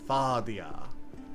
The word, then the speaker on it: Fadia: I was putting emphasis on the wrong syllable. Fadia.